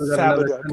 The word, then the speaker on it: Fabok: We pronounce it Fabok. Fabok.